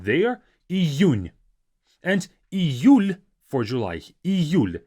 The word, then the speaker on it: Июнь: The difficulty here comes with this U. Июнь. You have to make sure that you have this Y sound there. Июнь.